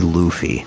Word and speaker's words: Luffy: wacky looking you know say it like the word loofah right it's Monkey D Luffy yeah um the crossy